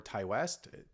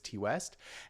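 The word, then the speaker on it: Ti West: So this is Maxine, directed by, however you would pronounce his name, T or Ty West. I do believe it's T West, and it takes place in the 1980s Hollywood, and it takes place during.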